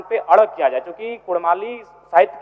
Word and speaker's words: कुड़माली: है ठीक उसी प्रकार कुड़माली में अभी कुरमाली र उच्चारण होता है वर्तनी में जबकि वह मूल रूप से पराओ की मान्यताओं की बात करें तो अड़ होना चाहिए और अंग्रेजी दस्तावेज में